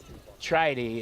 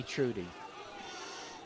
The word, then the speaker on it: Trudy: By the way, so I should mention that Tridy is actually his name, although it looks like it's spelled Trudy. But it's Tridy, and don't call me Trudy.